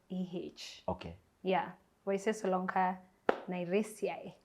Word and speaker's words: Waizeh: How do you pronounce this Waizeh? It's Waizeh.